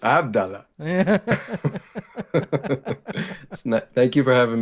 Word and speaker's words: Abdullah: Did I pronounce that right? Yes, sir. Awesome. Abdullah. Yeah, Abdullah, but it's Abdullah.